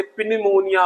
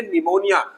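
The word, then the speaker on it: pneumonia: और ये तो मैंने शुरू में बता ही दिया था, जिसको बच्चे पिनिमोनिया पढ़ते हैं। नहीं, पिनिमोनिया नहीं है, पी साइलेंट है, निमोनिया एक प्रकार के रेस्पिरेटरी डिजीज है ये।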